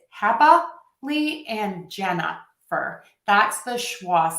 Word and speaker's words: Jennifer: second example that happily, I am actually shortening or reducing one of those syllables to the schwa or the That's that sound in the middle of the word happily. It's also in my name, Jennifer.